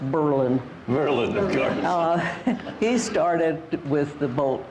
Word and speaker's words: Berlin: I may correct you it was Berlin Wisconsin pronounced Berlin he started with the